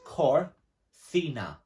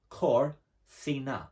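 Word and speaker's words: cocina: just hear that again so it's cor thina but it's not spelt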